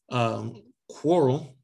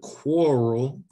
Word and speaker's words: quarrel: Quarrel, that's how you pronounce it. Quarrel, that Q-U-A-R has that core sounded, quarrel.